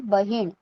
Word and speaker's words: बहीण: Now sister, sister जिसे बहन कहा जाता है हिंदी में, हम उसे मराठी में कहेंगे बहीण. ओके, बहीण, सिस्टर मराठी में कहा जाता है बहीण.